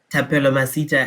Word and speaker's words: Thapelo Masita: um good evening everyone uh my name is tapelo masita as alex has so very well pronounced uh which is not often the case